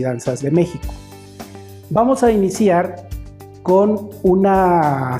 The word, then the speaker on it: México: Si nos ponemos a dividir esa palabra, se divide en 3 sílabas. La primera sílaba va acentuada, entonces vamos a decir al niño que repita la palabra México, siempre dándole énfasis al acento. México, México.